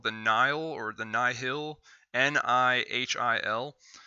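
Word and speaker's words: Nihil: the nile or the nyhil n-i-h-i-l i believe they pronounce it nile but whatever and uh the nile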